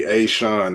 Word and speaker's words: Ashun: army Ashun.